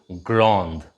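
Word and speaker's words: grande: just sweet gram gran remember to put an e in the end for the feminine and the pronunciation changes to grand so if a girl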